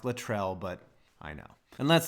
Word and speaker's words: Latrell: good I have to choke a yes it's pronounced Latrell but I know and let's not forget you